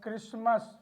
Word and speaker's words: Christmas: We have Christmas. We have hustle. In these letters, we find T is there, but the pronunciation of T is completely silent.